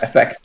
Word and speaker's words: Fector: I just kept hearing the C there. Nope. Fector. Fector with no C.